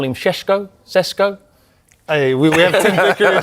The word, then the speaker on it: Šeško: Benjamin, we call him Sesko? Hey, we have Tim Vicker. Sounded like Sean Connery. Great pronunciations. Sheshko, I think that's how you pronounce it.